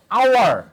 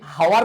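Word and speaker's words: hour: যেমন দেখো আওয়ার, কি আছে ভাইয়া, আওয়ার, এটা কি হাওয়ার বলি, আমরা কি বলি এইচ ও ইউ আর, হাওয়ার, আমরা কি হাওয়ার বলি না, আমরা কি বলি, এখানে আমরা এইচ এর উচ্চারণ হ ইউজ করি না, দ্যাট মিনস এন।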